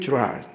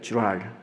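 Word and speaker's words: Girard: 스테븐 주랄, 발음 잘해야 돼요. 주랄.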